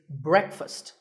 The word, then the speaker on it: breakfast: would you say it the proper pronunciation is not break fast it's breakfast brick with a short a sound and fussed with an up sound so breakfast you know what I